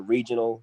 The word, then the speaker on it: regional: The regional guys, or the regional, the R is pronounced with an H.